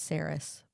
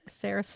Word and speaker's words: Saeris: I do think it's Saris, but Fane. Fane? Yeah. Okay. I do think it's Saris too. Saeris.